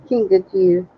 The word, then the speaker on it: kinkajou: Oh, Kinkajou.